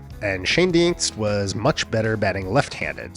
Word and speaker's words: Schoendienst: of Famer Red Schoendienst was mainly a second baseman, but he did play a fair amount of third, short, and outfield.